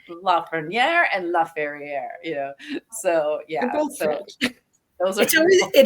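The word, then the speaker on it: Lafrenière: They were two old, and they kept calling LaFerriere, and I was like, who is this?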